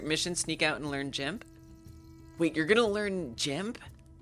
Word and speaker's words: GIMP: I call it GIMP because the hard G is like a slur, and it just makes me, it feels weird.